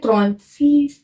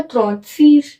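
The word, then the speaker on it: trente-six: 36 को बोलते हैं त्रॉन्त सीज। ऐसे इसको त्रॉन्त, इसको सीज, तो साथ में मिला क्या हुआ? त्रॉन्त सीज।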